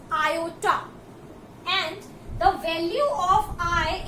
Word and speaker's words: iota: अब ये I होता क्या है, तो I को हम रीड करते हैं iota. This is pronounced as iota and the value of I is equals to under root -1.